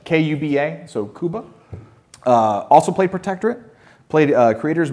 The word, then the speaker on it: Kuba: Kuba, I believe, is the way to pronounce their name. It's I'm going to let you butcher all the names. K-U-B-A, so Kuba.